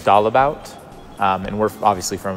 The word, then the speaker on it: Dalebout: to church here 's I've been pronouncing my name wrong it's all about our our family is doll about um and we're obviously